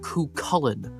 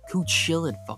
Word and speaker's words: Cú Chulainn: And yes, it's pronounced Cú Chulainn. I get that the Irish language makes no sense, but at least try to get it right. Cú Chulainn, off.